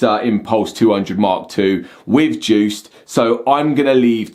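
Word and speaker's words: DJUCED: reviewed a Hercules controller I've been calling it dju so I found out recently that they actually pronounce it Juiced which is Hercules's own DJ software um it's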